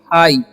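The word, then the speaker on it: high: Okay, और इसे पढ़ेंगे हाई। यहाँ पर GH जो है साइलेंट है, ठीक है, तो इसका आपको ध्यान रखना है।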